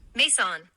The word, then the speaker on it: Maison: Maison, pronounced Mason, recorded my doctoral graduation.